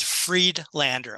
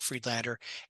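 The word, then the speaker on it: Friedlander: make sure I got that right yeah it's Fred Lander I'll spell it for you m a r k f r i e d l a n d e r freedlander and typically I just go with spokesman insurance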